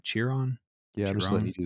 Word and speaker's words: Chiron: uh the Bugatti how do you say that shiron Chiron yeah just let me do this okay [